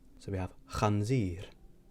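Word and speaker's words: ħanżir: So once again, we have khanzir or khobs. So the letter on its own is pronounced ch. So we have khanzir, khobs.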